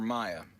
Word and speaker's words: Mia: apologize your kiddo Mia are you pronouncing it Mia or Miah Miah Miah it's like who is